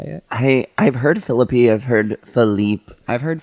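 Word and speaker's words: Phillippe: how do you say it I I've heard Philippi I've heard Philip I've heard philippy but I always say Philip Filipe I think Filipe Ryan Felipe that's what I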